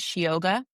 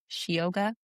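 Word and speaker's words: síoga: So it's a changeling, but the Irish word for it is Shioga. And so it's spelled Sioga, Shioga.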